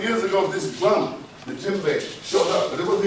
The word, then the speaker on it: djembe: So the D must be silent because it says djembe, but it doesn't.